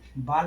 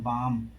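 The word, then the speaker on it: balm: इसको अपन बाल में नहीं पढ़ेंगे, इसको कब क्या नहीं पढ़ेंगे अपन, बाल में नहीं पढ़ेंगे, इसको पढ़ेंगे अपन बाम, क्योंकि इसमें क्या है, एल साइलेंट है।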